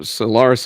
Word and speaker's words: Celaris: So Solaris is on Spotify. My voice is somewhat different than their old singer, but it is spelled Celaris.